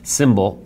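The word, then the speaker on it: Symbl: their product of lifestyle symbol pronounced sy M BL that's interesting lost a vowel there FSD Pharma our favorite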